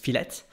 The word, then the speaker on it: filet: un mot d'origine française mais ça se prononce filette fette coated or uncoated